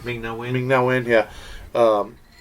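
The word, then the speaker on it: Ming-Na Wen: Ming Na Wen.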